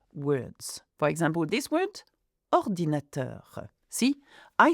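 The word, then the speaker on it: ordinateur: For example, this word ordinator. See, I stress the last syllable of words, which happens in French.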